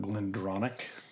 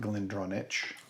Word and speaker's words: GlenDronach: to Brookladich, CH is always pronounced as a K.